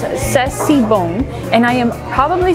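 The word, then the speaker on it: c'est si bon: Okay, I looked it up with Emil, and it's pronounced Sessibon.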